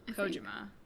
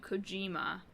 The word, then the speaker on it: Kojima: gonna embarrass myself hideo Kojima Kojima because I always want to do coima but I feel like that's very American anyway it's a m